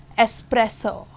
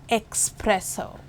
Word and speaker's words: espresso: it is just cash espresso it's an espresso and not an expresso and how about a